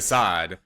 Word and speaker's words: de Sade: De Sade, and he like apparently... like Saddam Hussein.